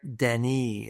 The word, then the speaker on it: Denis: I believe his name is Derek Denis. It's spelled like Dennis, but it's pronounced Denis.